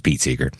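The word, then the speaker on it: Seeger: how do you say it Pete Seager it's Pete Seager yeah uh the folky everybody in it was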